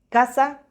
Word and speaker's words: casa: C más A, C más O, C más U se pronuncia como K. Casa, coche, cuento.